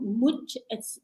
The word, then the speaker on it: MOT: Okay, so first of all, mut, that's how we pronounce it.